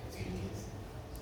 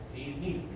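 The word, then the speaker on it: Ziehl: Así dice, sil. Esa es la pronunciación correcta, sil.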